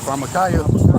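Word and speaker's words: pharmakeia: Oh, pharmakia.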